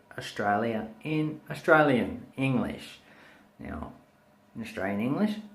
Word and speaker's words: Australian: Okay, so to break this down, we say stir a yin, Australian. If you can master pronouncing those separate parts of the word or the syllables, you will be able to speak like an Australian.